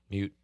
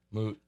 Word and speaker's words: moot: mute. Did you say mute? Yeah, he said mute perfectly. He Sure. Spell it how?